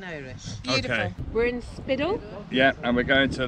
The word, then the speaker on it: Spiddal: We're in Spiddal. We're on Spiddal. Spiddal. Spiddal. Spiddal. Spiddal in English. Spiddal. Spiddal. Spiddal. On Spiddal in Irish. Beautiful. Okay. We're in Spiddal.